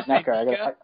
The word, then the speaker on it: NECA: It's NECA. I got to pronounce everything right because I'm on a podcast. Or Nika or NECA. I say Nika. Yeah. So I got to say NECA.